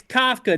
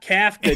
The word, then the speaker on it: Kafka: It's Kafka, not Kafka, DJ reader.